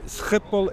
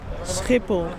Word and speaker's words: Schiphol: So we are here at the Schiphol airport. How do we pronounce it? Schiphol.